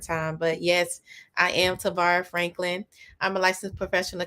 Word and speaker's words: Tavara: said your name right is it pronounced tavara yes you have it right jackie a lot of